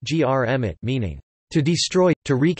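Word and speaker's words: громить: common prefix po and the verb gromit, gromit pronounced grmit, meaning to destroy, to wreak havoc, to demolish violently.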